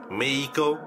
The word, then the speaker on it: Mexico: France, Uruguay, Mehico. Mexico. No, the correct term is Mehico. They spell it with an X, not an H. Well, cultured people know that it's Mehico and not Mexico.